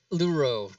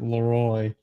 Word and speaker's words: Luro: Luro, just like it's spelled. Luro, okay. I keep wanting to say Leroy.